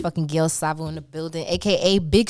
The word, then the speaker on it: Gale Savo: was one more time how you pronounce it Gil Sao oh so you foreign